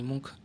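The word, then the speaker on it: Munch: Option A Andy war, B Picasso, C मुंच, डी सेजान। तो इसका answer हो जाएगा ऑप्शन सी, मुंच जो है यानी मुंख, इनका जो उच्चारण है कुछ अलग अलग प्रकार से मिलता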